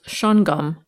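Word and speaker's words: Shawangunk: of new york schweingunk pronounced shun-gum according to the residents of the region schweingunk mountain is a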